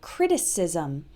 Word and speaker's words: criticism: Note the pronunciation difference between criticize, it ends with the eyes sound like in size, and criticism, it has the is sound like in his.